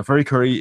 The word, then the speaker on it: FLCL: apparently planning to do a new remake now furi kuri is an ova from the year two thousand